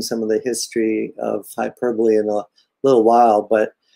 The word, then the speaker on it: Hyperbole: Hyperbole, that's how you say it, not how the British say it sometimes.